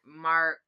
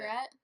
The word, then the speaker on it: Marquette: He was approached by Dahmer while he was waiting at a bus stop near Marquette. I don't know how to pronounce it. Margaret.